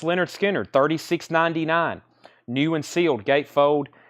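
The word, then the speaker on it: Lynyrd Skynyrd: full of this whole crates full of Essentials pronounce Leonard Skinner 36.99 new and sealed gatefold that is 36.99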